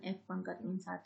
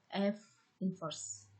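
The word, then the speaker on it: f⁻¹: Jadi, bacanya bukan F pangkat min 1, tapi F inverse.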